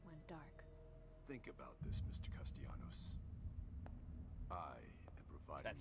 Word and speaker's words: Castellanos: them and stem dark think about this mister Castellanos that's how you say my name customs to